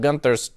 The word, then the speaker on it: Gunther: What Gunther did, another one of Gunther's tricks. Gunther is German, by the way. Gunther is the proper way to pronounce that.